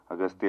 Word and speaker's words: Aghathiyaa: it is but in the film your name is pronounced in different ways austa yeah in both ways it is pronounced yeah it's and also austa so I don't know